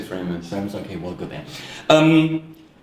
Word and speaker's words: Framus: Are you saying it in German or how do you say that? I say Framus.